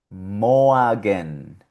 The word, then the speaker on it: Morgen: Aquí la tenemos también, la O con la R, y suena Morgen, Morgen, que significa mañana.